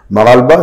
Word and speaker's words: Makalba: Ça s'écrit Makalba parce que c'est un orthographe en arabe, tu vois. Et donc, en vrai, ça se lit Maralba parce que le H, ça a un sobriquet dans la zone en Maroc, dans le Maghreb.